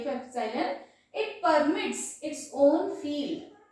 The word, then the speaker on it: epsilon: यही जो एप्सिलॉन होता है इसको E नहीं प्रोनाउंस करेंगे, it is एप्सिलॉन, है ना, एप्सिलॉन एप्सिलॉन एप्सिलॉन।